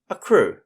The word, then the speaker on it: accrue: get money over time this is another word with two c's making the hard c sound apart from this just note that the oo sound at the end of the word is made by you e so a c c r u e spells a crew okay geez some of